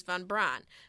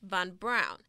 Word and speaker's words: von Braun: famous figure first he's commonly referred to as fun Braun but it's actually pronounced von Braun next von Braun is